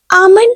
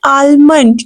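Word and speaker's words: almond: word will be um this is नॉट आलमंड know the word will be आम खुबानी को English में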